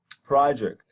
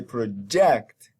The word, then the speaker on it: project: They, for example, when you say project, the first syllable is stressed, pro. And if you say project, then jact is stressed. So you transfer the stress to the second syllable.